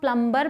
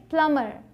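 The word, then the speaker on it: plumber: औरतें थी अब देखिए अब फिर से बी ए गया तो इसे क्या हम प्लंबर पढ़ेंगे नहीं से पढ़ेंगे प्लंबर मतलब नल का जो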